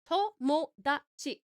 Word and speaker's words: Tomodachi: Tomodachi. 4 syllables. Colonoscopy. 5 syllables.